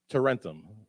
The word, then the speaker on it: Tarentum: How do you pronounce the name of the town you're in? Tarentum.